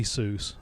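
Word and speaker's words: Seuss: you're quite right zoe it should be soos um i'd i let that one slide because i would pronounce it zoice um i don't know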